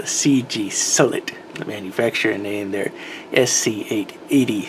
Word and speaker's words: CGSULIT: foreign could probably only be pronounced as the CG solid the manufacturer named their